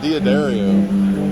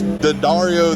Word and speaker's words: D'Addario: I found out, I always called it D'Addario, but I guess D'Addario themselves say it's pronounced D'Addario.